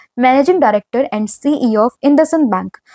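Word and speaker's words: IndusInd: कई बार बच्चे इसको सही से प्रोनाउंस नहीं कर पाते हैं, तो इट इज इंडसइंड बैंक।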